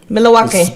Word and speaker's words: Milwaukee: Milwaukee. That's how you're supposed to pronounce it.